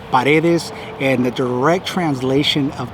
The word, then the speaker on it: Paredes: it's uh well okay in english i guess some people will pronounce it as paredes it's actually paredes and the direct translation